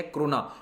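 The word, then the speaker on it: krone: इनकी करेंसी है क्रोना, दोनों में प्रोनाउंसिएशन क्रोना होता है लेकिन स्पेलिंग अलग है, ठीक है। एक की क्रोना है, डेनमार्क की क्रोने है, प्रोनाउंस दोनों को क्रोना ही किया जाता है।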